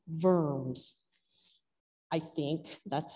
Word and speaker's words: Worms: find in your garden it's actually a city in germany and it's pronounced verms i think that's how